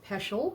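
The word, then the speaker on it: Peschel: Uh, look for Peshel. That's spelled P E S C H E L Press.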